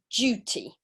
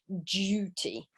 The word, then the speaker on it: duty: good two syllables yeah and duty okay so difference there between British English pronunciation and American English but yes you're right Sarah it's an O sound so duty okay and then if we